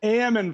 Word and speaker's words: almond: podcast you are an almond farmer right that's right you were supposed to correct me there you're actually a what kind of farmer and a man farmer huh L is silent and why is the